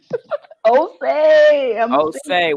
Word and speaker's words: Osia: Me being able to pronounce his name. Yes. Osei.